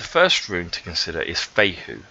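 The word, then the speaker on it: Fehu: room to consider is fate who so that's how you pronounce that rule fate whoo okay Faye who essentially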